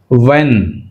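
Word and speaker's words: when: H silent rhythm right వెన్ వెన్ H silent right coming to ఎల్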